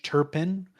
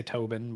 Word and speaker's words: Turpin: Alan Rickman as the great Judge Turpin, who I always mispronounce for whatever reason. I always want to say Tobin, but that's not it.